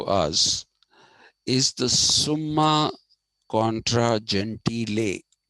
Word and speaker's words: Gentile: Uh, the work that is of relevance to us is the Summa Contra Gentile. It's pronounced Gentile, not Gentile. Though in English people do say Jew and Gentile.